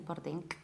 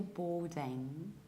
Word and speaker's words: boarding: In British accents, we pronounce it like boarding card, boarding card. So what happens is that we prolong O and we skip middle R. Boarding, and there is no K at the end. I don't say boarding, I don't say boarding, I say boarding.